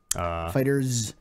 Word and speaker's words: FighterZ: Fighters. Fighters. Z. Fighters. It's not spelled with an S. I know. It's pronounced with an S, though, apparently.